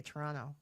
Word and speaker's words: Toronto: say it you say Toronto you just kind of like slur it all together that's how it Toronto